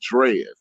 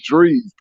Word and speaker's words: Drees: She called him Drez. She could never say his name right. She don't call him Drez. I'm like, it's Drees. Drees.